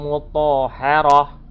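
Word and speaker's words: مطهرة: Ingat, ta marbutoh bukan termasuk mat iwat, dan ta marbutoh berharokat fatatain apabila berada pada akhir ayat dan waqaf maka dibacanya ha sukun, ya. Jadi yang ujungnya itu ta marbutoh maka dibacanya menjadi ha sukun, ya.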